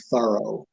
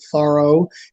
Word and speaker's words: Thoreau: journal dined with mr thorough t-h-o-r-o-w um then another time bronson alka wrote uh henry is well named because he is so thorough so that that's how